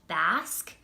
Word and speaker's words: BASQ: of this product, and I think it's pronounced Basque.